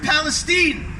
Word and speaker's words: Palestine: They pronounce it Palestine.